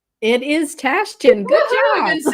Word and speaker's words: Tashjian: It's Tashjian. It is Tashjian.